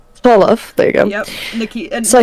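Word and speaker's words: Tsolov: So, how do you pronounce the name? Solov. Solov, there you go.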